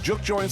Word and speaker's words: juke joint: Juke joints started as plantation community rooms during slavery times.